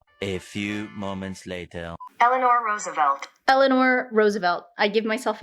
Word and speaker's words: Eleanor Roosevelt: there's a quote from elena roosevelt roosevelt how do you say her name a few moments later eleanor roosevelt eleanor roosevelt i give myself a d plus